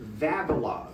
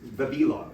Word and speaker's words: Vavilov: Vavilov. Thank you. Vavilov. Vavilov is the correct pronunciation.